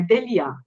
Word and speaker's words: Deslien: O S em francês a gente não pronuncia, então é Delia.